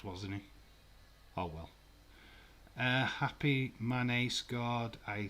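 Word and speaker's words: Mané: Happy Mane scored.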